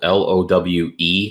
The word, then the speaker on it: Lowe: i'm gonna go brandon lau for two reasons number one pronouncing his last name like that is annoying it's spelled l-o-w-e that's low as in derek lowe derek lowe 2004 postseason